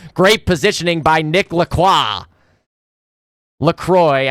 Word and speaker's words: Lacroix: LaCroix, I know that's how they pronounce it because they're very Americanized, but I am French Canadian. I say Lacroix.